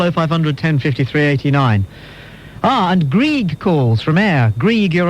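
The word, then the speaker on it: Greig: I know, but my parents, they've spelt it G-R-E-I-G. And therefore it's Grieg. It's Greg. It's Grieg. Silent I. There's no such thing.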